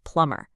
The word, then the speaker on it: plumber: Let's start with plumber. You see that B right there in the middle? It is so so tempting to say it, right? Plumber. But nope, it's a trap. That B is completely silent. So, you just want to drop it, forget it's even there. It's just plumber.